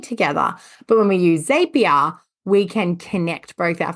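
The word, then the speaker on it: Zapier: to talk about is zapia or zapia z a p i e r depending how you pronounce it now zapia is something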